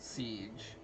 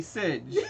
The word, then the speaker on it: Sidj: Mostly because people were pronouncing it, when they saw it the old way, they were pronouncing it siege. That's how I was pronouncing it. I right. thought that was my name! No, I want it to be Sidge.